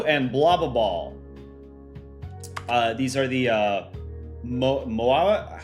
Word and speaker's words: Moai: Moai is how they're pronounced.